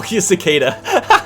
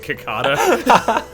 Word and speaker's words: cicada: is oh wait no cicada yeah so the first time i ever heard of cicadas was an animal crossing and so for years i was pronouncing it kakada i love that type